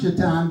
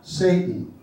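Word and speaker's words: Šatan: Czech Republic Miroslav chitan only pronounced chitan but it's spelled s a t n at this on his back Satan it's crazy right they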